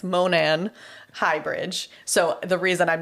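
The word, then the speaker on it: Monon: So Manam. Dude. Close, but I mispronounced that. It's Monan Highbridge.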